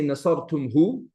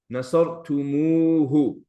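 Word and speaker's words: نصرتموه: You're not going to say nasartumhu, but you're going to say nasartumuhu.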